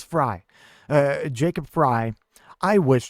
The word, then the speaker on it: Frey: It's spelled Frey, but everyone says Fry.